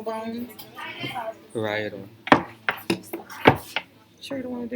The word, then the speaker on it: parietal: Sorry, I'm really bad at pronunciation. Lambdoid sutra. This part here are the peripheral bones. Parietal. Sure you don't want to do it, so I'm not mispronouncing everything. Parietal bone.